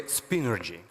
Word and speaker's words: Spinergy: It's correctly spinergy.